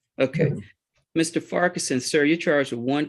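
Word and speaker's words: Farquharson: last name is f-a-r-q-u-h-a-r-s-o-n foreign how do you pronounce your last name sir okay Mr Ferguson sir you charge a one count of Criminal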